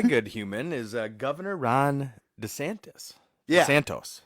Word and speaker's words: DeSantis: My good human is Governor Ron DeSantis. Yeah. Santos. I always want to say it like Dos Santos, but that's not it. It's TIS, not TOS.